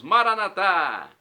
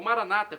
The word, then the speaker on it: Maranatá: E agora eu clamo do aramaico, dialeto de Jesus, Maranatá, como dizemos nós católicos, ou Maranata, como dizem nossos irmãos separados, os evangélicos ou protestantes. Não importa, a pronúncia e o significado é o mesmo.